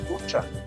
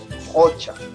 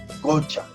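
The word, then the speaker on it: qucha: En Huancavelica y Ayacucho, esta Q suena como una J áspera. Entonces no se dice ucha, se dice jocha, jocha. En el Cusco esa Q suena como una, muy cercano a una K, jocha, jocha. Y en Ancash, gocha, gocha.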